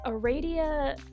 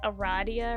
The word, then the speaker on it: Aradia: G um I think most people don't pronounce it like that but I am going to and I know there's no I there I know it's like Aradia or whatever but like but like pronounce the a uh long I guess a radio I'll be pronouncing it Aradia which is probably horribly wrong but whatever your name